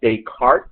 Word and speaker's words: Descartes: was known as what Descartes and his laughing expelled or it's written this car taste it it's pronouncing cart because he was French or something like that